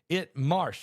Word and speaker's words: Marche: Marsh, spelled Marche, I think. Let me see. Somebody just asked the question. It is spelled, Marche. Marsh, Italy. That's how you say it in Italy.